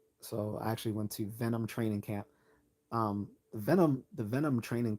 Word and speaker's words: Venum: So if you ever seen like the Cobra and it says Venom and it's spelled VENUM, that's Venom training camp.